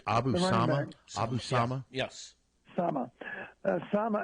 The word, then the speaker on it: Abu Sama: IA of course uh incidentally um is it pronounced s or S I think it's Abu Sama Abu Sama yes Sama Sama as you noticed